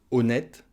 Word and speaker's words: honnête: dis il semble honnête le h en français voilà le hb muet du coup il ne va pas compter et ça va être comme une voyelle donc on va prononcer la syllabe bleus et on va dire il semble honnête il semble honnête on